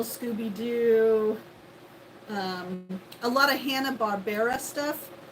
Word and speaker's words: Hanna-Barbera: Yeah, Hanna-Barbera.